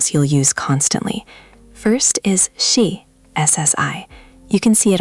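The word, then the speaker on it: 씨: It's a sharp, short sound. Shi, not see or she.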